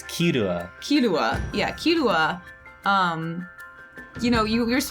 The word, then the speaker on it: Killua: Killua? Yeah, I was gonna say Kahlua again. That's a drink. The Kahlua. Killua.